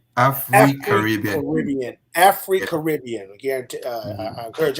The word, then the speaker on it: AfriCaribbean: AfriCaribbean. AfriCaribbean.